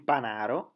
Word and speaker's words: Panaro: la trebbia il taro il panaro con l'accento sulla seconda renault che appunto attraversa